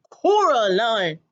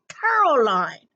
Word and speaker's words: Coraline: name wrong you know I can't say Coraline not Caroline not Coral Caroline at all he picked up a